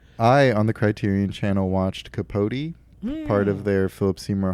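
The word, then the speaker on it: Capote: documentary oh yeah I the Criterion Channel watched capot part of their Philip seamour Hoffman collection pronounced capot ah yes kot K it's pronounced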